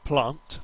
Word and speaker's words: Plant: I always pronounce wrong this next track is called Galaxy plant not Planet as I've been calling it Gala Galaxy plant uh